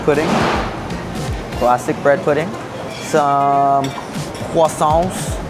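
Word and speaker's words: croissant: classic bread pudding, some quason. Got to pronounce it correctly. If you're in France, they'll correct you. Quasant creme brulee action.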